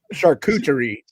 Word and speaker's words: charcuterie: charcuterie. Charcuterie. That's how it's pronounced.